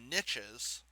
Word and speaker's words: niche: to move on to niches and this is one of those words that is pronounced differently around the world basically in america it is totally acceptable for you to call this a niche if you are literally